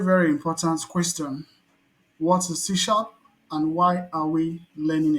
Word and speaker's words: C#: So C# is pronounced as C- then sharp which is developed by Microsoft and is a part of um net framework.